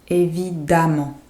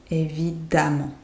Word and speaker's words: évidemment: Évidemment. Évidemment. So that E here, the E, it sounds like a A. A. Évidemment. Évidemment.